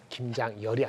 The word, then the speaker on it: 김장열: 잘 제 제 이름이네 김장열이 아니고 김장열 장열하게 전수하다 그렇게 발음 하셔야 돼 열 사신 니로 발음 하시게 아네 알겠습니다 왜 갑자기